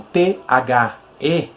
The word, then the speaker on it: the: E vocês percebam também uma coisa na pronúncia, que embora nós escrevamos essa palavra como T-H-E, e, por conseguinte, seria muito óbvio, a leitura como D, ou como T, não é dessa forma que se pronuncia, tá bom? O E, ele vai ter um som puxado pro E. Então, seria algo como the, ok?